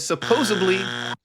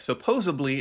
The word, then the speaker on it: supposedly: If you said supposedly, you are correct. Supposedly is not a word. It is an incorrect pronunciation of the word supposedly.